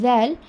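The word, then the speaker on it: ذال: Rosa so this is zal over here so when you are pronouncing excuse me when you're pronouncing zel it should be your tongue will come out between the two teeth it is not Za it is the only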